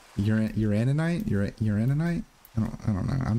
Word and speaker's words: uraninite: Did I say uranite? It's a uraninite.